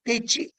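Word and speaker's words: deqi: Well, the patient guides you by what is known as Techi, pronounced as Techi, written as Beqi.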